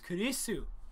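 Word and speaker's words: クリス: Her Her name is Chris in America, and in Japanese it's Kurisu. Because they can't pronounce Chris.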